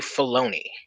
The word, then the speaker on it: Filoni: out in 2008 by one dave filoni rhymes with baloney and essentially they do